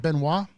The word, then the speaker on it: Benoit: Is it Benoit? Yes. Okay. I always... Yeah, no worries. I always question... I know how it's spelled.